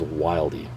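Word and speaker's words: Wilde: presence or team or it was just an epic troll where he intentionally mispronounced the company name but that employee multiple multiple times announces the company name as wildy so that's exactly what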